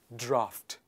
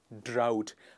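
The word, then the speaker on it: draught: you use this word the pronunciation is draft people often mispronounce this word as drought please do not misunderstand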